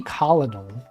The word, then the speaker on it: colonel: Isn't it messed up that Colonel was pronounced like that? It's like it should be colonel.